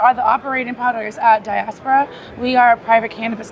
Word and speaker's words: Diaspora: We have Ria, Racia, Reia, and Malikica with Daspora Experience. Did I say it right? Yeah. That's close enough. No, no, no, no. We ain't close enough. We What is it? Diaspora. Diaspora. Diaspora experience.